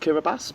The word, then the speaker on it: Kiribati: I know that Kiribati is actually pronounced Kiribati, because I've been there.